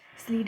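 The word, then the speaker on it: Schleiden: ही famous scientist हुए स्लेड एंड स्वान ठीक है ठीक है इसमें सी एच सी एच जो है दोनों में ये साइलेंट है ठीक है इनके नाम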